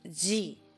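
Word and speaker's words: ぢ: You pronounce this as G. This character is an exception in this set. It's not a D syllable, and yes, it's the same sound as G. It's similar, but it's different.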